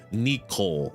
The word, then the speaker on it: Nikko: It's spelled Nikko, Nikko, like light. Nikko. Neko. You would say Neko for that. Neko is cat.